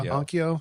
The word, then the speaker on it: Onkyo: Onco. I don't know how to say it. Yeah, Onkyo. Onkyo.